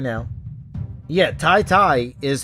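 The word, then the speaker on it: Tete: Yeah, Tai-Tai is how you pronounce it, I guess. Lapocate. Because that's what he told me on Twitter. He said it was T-I-T-I. T-E-T-E was pronounced T-I-T-I, he said phonetically.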